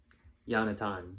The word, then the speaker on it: Yonatan: Israeli, taught at Cornell in the States, had his son, can't pronounce his name, where is it? Yonatan, Yonatan, in quotations, Yoni.